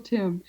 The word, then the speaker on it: Tymn: They're older books, but I recommend anything that Michael Tim, and his name is spelled T Y MN with there's an N. It's like him. It rhymes with him. Michael Tim.